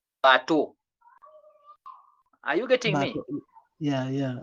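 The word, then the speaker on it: bateau: So remember the E-A-U produce the sound O. So that word you should read it as bato.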